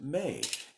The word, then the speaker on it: Mei: has three letters and we should pronounce it may it's species name is